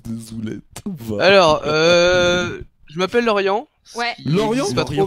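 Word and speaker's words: Laurian: Alors, je m'appelle Lorient. Ouais. Lorient. C'est pas trop mais... Ouais, Lorient. Comme la ville, mais s'écrit AN à la fin.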